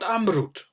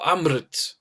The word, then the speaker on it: Amrut: One of them is called Amrut. Or Amrit. Depends on how you pronounce it.